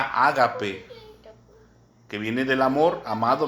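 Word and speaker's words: ἀγάπη: una palabra en en su original en griego que se pronuncia ágape que viene del amor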